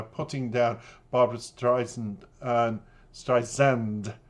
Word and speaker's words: Streisand: down Barbara Streisand, and Streisand, I've been told by the fans, not Sand, but it depends on your colloquialism, pronunciation, and if you're from America or England, and if you're an English upbringing like I have, how you pronounce one's name.